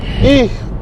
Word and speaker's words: и: The backwards N character in Russian, which looks to us like a backwards N in America, is E, pronounced E, like the letter E, and it means and.